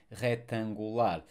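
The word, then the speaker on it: retangular: molecular curricular rectangular rectangular sorry we don't actually rectangular no we don't we don't pronounce the C rectangular uh popular so word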